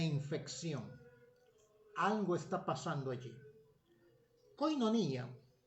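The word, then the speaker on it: κοινωνία: algo está pasando allí koinonía en griego con vivían más o menos así es su pronunciación que significa comunión significa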